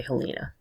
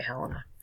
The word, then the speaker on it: Helena: Some people might say Helena. I think they say Helena.